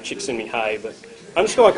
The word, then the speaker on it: Csikszentmihalyi: Come to find out, that's how you pronounce his name, Csikszentmihalyi, but I'm just going to call him Dr.